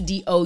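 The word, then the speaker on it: Doux: found ERS of the do t h e d o u x it says d o x but it is pronounced do like morning do or do what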